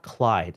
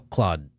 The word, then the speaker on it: Claude: It's not Clyde. Is this Claude? Yeah, I think it's Claude. Cloud, what? Because it's French. Oh, Claude.